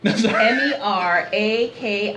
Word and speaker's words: Meraki: year was or is hashtag uh Meraki okay spell it m-e-r-a-k-i Meraki yeah man now tell them what it